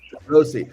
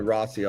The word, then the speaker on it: Rosie: famous now now is is your name pronounced Rosie Rosie yes Rosie so Rosie I'm sorry I've been calling you rossie all this time so